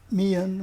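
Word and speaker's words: Meighen: Mian, ouais. Ouais. Puis On ne prononce pas le GH, là, mais...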